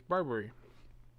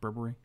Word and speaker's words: Burberry: happening right now hey it's barbary it's pronounced burberry but we are going to take the burbank it is michael it really is michael it's burberry our whole deck is just